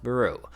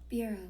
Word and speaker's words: bureau: national tax services fourth brew a department um that hold Somebody told me that brew must be pronounced as Barrow.